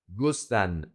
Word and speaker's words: gustan: So in this case, the emphasis is gus. So it's gusta, singular, gustan, plural. A very common mistake is gusta, gustan.